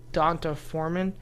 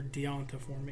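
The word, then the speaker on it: D'Onta Foreman: I said pick up donta Foreman is that is that how you say it uh you could say donta Foreman or deonta form either one uh he's average 7.5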